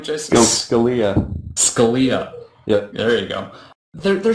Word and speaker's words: Scalia: Scalia.